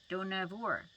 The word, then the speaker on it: Dohnavur: We were camping in Dohnavur," and she has a little note about how to say it. Rhyme do with no. Do na, and then vur with poor. Dohnavur. Is the same word as